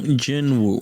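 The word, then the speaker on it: Jin-Woo: later that's just a waste of time s Jin Wu yeah that's the character did I mispronounce that name no no okay that's pretty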